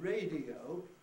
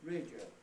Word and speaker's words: radio: example I've given here, the word radio is often pronounced not as 3 syllables, but radio as 2, right?